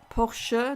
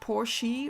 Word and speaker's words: Porsche: um mercedesbenz Porsche and it's Porche not Porsche or Porsche like some people say definitely pronounce as Porche um and what else